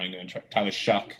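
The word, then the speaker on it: Shough: I believe it's Tyler Shuck, like shucking. Like when you like shuck an oyster.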